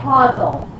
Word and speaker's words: causal: Okay, it's causal relationship, not casual. Okay, casual is spelled differently.